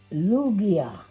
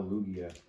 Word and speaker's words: Lugia: we also got a lugia the g is pronounced like an h i wonder if they